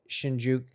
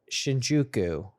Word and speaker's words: Shinjuku: the there's like so I stayed in shinuk so they were trying I'm trying to pronounce it right Shinjuku okay I guess the